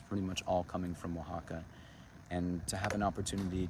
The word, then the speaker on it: Oaxaca: You did spell it right there, Martin. It's Oaxaca.